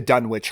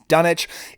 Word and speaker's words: Dunwich: his stories particularly the dun witch horror or the dunit horror it seems like it could be pronounced a couple different ways I've always said dun witch because that's how it's spelled and if you watch